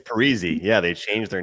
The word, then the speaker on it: Parise: He comes out and says, "Actually, you guys have been saying my name wrong the whole time." It's Parisi.